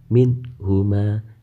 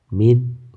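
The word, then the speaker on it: مِنْهُمَا: Hai cara membacanya yaitu nun mati dibaca dengan jelas minhuma tidak boleh minum awal tapi harus minhuma Hai kemudian tak hukum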